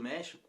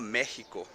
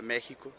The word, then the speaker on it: México: o meu país e não era méxico como pronunciado aqui era para você a do meio xícara então era méxico só que pelo x os espanhóis começaram a pronunciar méxico e ficou méxico em espanhol até hoje é o prédio deles